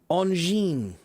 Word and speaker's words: engin: In French, the word engine is pronounced engine. Engine.